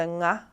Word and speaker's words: ng: So the best way that I can describe it is when you say the word sing, you just use that last sound and sing, and then that becomes the nga. That's the nga sound.